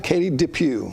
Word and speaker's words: Katie DePew: Am I pronouncing that right? Katie DePew.